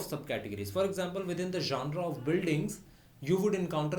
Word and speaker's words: genre: This GENRE architectural जॉनरास, it is I think a French word.